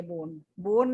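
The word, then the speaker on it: borne: बोन इज जो beer करा, beer करना चाहिए बोन है इसकी प्रोनाउंसिएशन, बोन।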